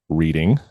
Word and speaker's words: Reading: Pennsylvania uh Rebecca from Reading Pennsylvania or reading as she says I'm supposed to pronounce it uh Becky from Pittsburgh